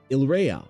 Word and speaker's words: Yria: The archipelago of Yria, pronounced Ila.